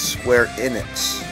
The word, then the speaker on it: Square Enix: It's Square Enix. Square Enix is how you pronounce it.